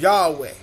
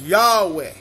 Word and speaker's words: Yahweh: have confidence in pronouncing the creator's name as yahweh i choose to pronounce the creator's name as yahweh that's the creator's name forever and ever when